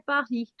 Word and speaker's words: Paris: Emily, she always say Paris. And it's not like they write only Pari. They write it the complete word, but they do not pronounce the last letter.